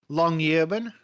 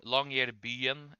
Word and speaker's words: Longyearbyen: Longyearbyen Yeah, long. is 2,000 kilometers. That is tiny numbers, then. Also, Mhm. you can just call it Longyear City if you want. Longyear Byen.